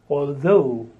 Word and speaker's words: although: next word is although the stress on the second syllable although the next word is